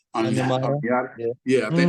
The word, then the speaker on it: Onyemata: I think we have Amiata. I Yeah. think I said his name wrong. Onyemata.